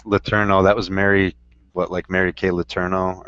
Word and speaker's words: Letourneau: I hate to say it, but it's Letourneau. That was Mary Kay Letourneau or whatever. It's spelled differently.